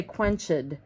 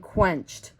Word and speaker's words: quenched: If you look at doused or quenched, they look like they have 2 syllables, right? Because of the ed on the end. But if you think about the way we say it, we don't say doused and we don't say quenched. We say doused and quenched. So it's almost as if we wrote, oops, sorry guys. It's like burnt, right? Doused, like that, like burnt, 1 syllable, okay?